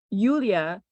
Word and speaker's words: Yulia: So, Yulia Hunita, is that how you pronounce it?